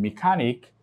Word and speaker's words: mechanic: So as mechanic, here you have the last syllable, N-I-C. Here's the second to the last syllable. So you have the stress placement on the C-H-A.